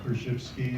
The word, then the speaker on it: Korzybski: in the 30s by Alfred Korzybski or her shifts key if you prefer the proper pronunciation and and then many